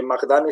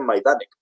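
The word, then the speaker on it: Majdanek: Que te dice, oye, mira, que es que no se dice Magdane, se dice Maidanek.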